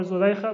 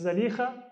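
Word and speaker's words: Zulaikha: wife of the Aziz, we often call her Zulaykha, but the proper pronunciation is Zalikha.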